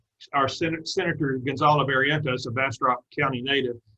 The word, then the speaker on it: Bastrop: And here's a bumper sticker that says, oh, Bastrop does not have U in it. In other words, not Bastrop, but Bastrop. Now, here's another way that he invented for you to remember how to pronounce this name. You take a fish. You hold the fish in your outstretched arms. You let it go. And there it is. That's called a bass drop.